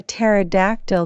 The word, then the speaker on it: pterodactyl: can't you hear a pterodactyl go to the bathroom H I don't know why because the PE is silent that's hilarious thanks for